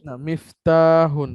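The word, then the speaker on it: مِفْتَاحٌ: না, মিফতাহুন, হ্যাঁ মিফতাহুন, এরকম তাতে তাটা লম্বা করে বলতে বলতে হবে, মিফতাহুন, হ্যাঁ।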